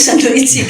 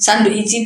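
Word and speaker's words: サンドイッチ: Sandoichi apa ya sandoichi gitu. Saya ambil ini sandwich, no sandoichi. Saya gara-gara cuman sandoichi itu sandwich, cuman mereka bacanya sandoichi. Sandwich kan sandoichi itu udah.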